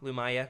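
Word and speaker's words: Lumiya: what oh it's lumaya am I saying it wrong lumaya yeah that's right thank you thank you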